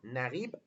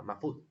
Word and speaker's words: Naguib Mahfouz: ¿A qué país le dio Naguib Mahfouz su primer Nobel de literatura? Vale, ¿cómo se escribe? Pues N-A-G-U-I-B, Naguib, y luego Mahfouz es M-A-H-F-U-Z, Mahfouz.